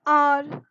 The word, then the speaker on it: hour: Instead of that, H is silent over here. You start with the vowel sound.